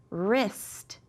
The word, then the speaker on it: wrist: Wrist, because that W is silent.